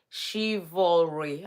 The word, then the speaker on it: chivalry: no what happened to is it chivalry I want to pronounce it right let me see how Google pronunciation okay shivalry okay I'm I'm doing well chivalry so do you think